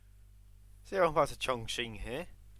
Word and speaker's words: Chongqing: Chongqing. That's how you pronounce it. You have to like. It's Chong, yeah. It's like the king. It's a ching, isn't it? That Q sound.